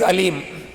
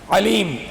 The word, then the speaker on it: أليم: If you say alim, alim, alif, it's just from your lips only. But when you say ayn, ayn, ayn is from here, ayn. Alim, alim means the knowledgeable.